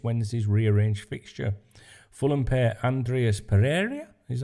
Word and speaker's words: Andreas Pereira: keita will miss Wednesday's rearrange fixture Fulham pair Andreas Pereira is how he pronounce his name and Tim ream are out